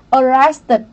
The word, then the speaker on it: arrested: Động từ arrest này nó kết thúc bằng T, cho nên chúng ta sẽ đọc là arrested, arrested, được chưa ạ?